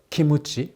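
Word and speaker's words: キムチ: And of course, but that kimchi that Japanese enjoyed, which they call Kimuchi, well, that's a Japanese way of pronouncing kimchi.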